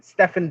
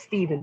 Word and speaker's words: Stephen: let me down william stefan belichick do not let me do that well it's pronounced steven but i'll say stefan so william stephen do